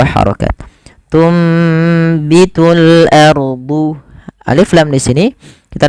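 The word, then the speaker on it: أرض: Kemudian pada lafal huruf dad harus bedakan antara huruf dal dengan huruf dad. Jangan ardu, tapi ardu, ardu mim baquliha.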